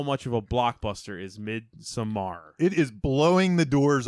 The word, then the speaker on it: Midsommar: going to talk about I'm going to say it mid Samar mid Samar Midsummer Midsummer Samar this this is America M right do it yeah we don't I think that's how he pronounced it midar how he was saying it on that podcast yes yeah so we're